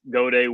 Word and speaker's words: Gaudet: I'm Gaudet, and it's Gaudet, again, French, spelled like Gaudet, but it is Gaudet.